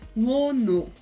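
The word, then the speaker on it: Wonho: Aí você pode ver que o wono, a segunda sílaba começa com o H, começa com a bolinha com chapéu, que é o nosso som de RR, que é harmonizado como H, mas neste caso também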